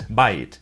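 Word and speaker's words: בית: house in Hebrew it's by it but when it's used in a compound word with another noun it's pronounced bait like in Batesville the word for school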